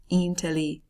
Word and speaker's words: inteligente: Inteligente. Do you hear what the G does if it's immediately followed by an E? Je.